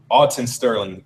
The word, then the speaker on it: Alton Sterling: want to say for the record is Alton Alton Sterling you know apologize to his family if I was uh Mis pronouncing his name and phando Castell I said